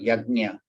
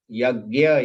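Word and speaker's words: यज्ञ: Yagnya or yagna, yagnya. Actually, the correct pronunciation is yagnya, but yagya is easier to pronounce.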